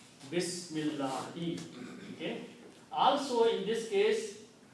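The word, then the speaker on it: بسم الله: The meaning of this swad is, do not pronounce this alif here. Bismillahi.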